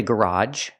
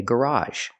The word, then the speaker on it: garage: word is garage garage some people say garage but I say garage garage and we have